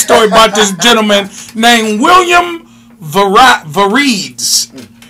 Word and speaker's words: Mavrides: And that's why you said, let's go to this next story about this gentleman named William Varides. It's pronounced Mavrides.